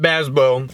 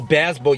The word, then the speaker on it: Bazbeaux: I think we should start with Bazbeaux because we got it.